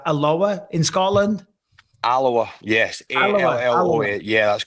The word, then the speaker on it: Alloa: It says that you're from, I'm pronouncing this right, Alloa in Scotland? Alloa, yes.